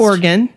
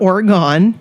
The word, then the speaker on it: Oregon: to the Pacific Northwest organ I said it right not Oregon right christine has gorgoni Oregon